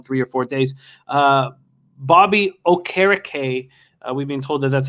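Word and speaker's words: Bobby Okereke: concussion protocol in three or four days uh bobby o'carricay we've been told that that's how to pronounce his name now had 12 tackles uh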